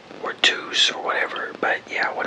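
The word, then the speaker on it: Tous: toast people pronounce it to or to or whatever but yeah when I looked it up it's to so cuz in Spanish that's how t o u s is pronounced but so I like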